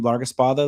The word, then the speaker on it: Largaespada: My last name Laruspa like as Mike nailed it in the pronunciation of saying it um is L and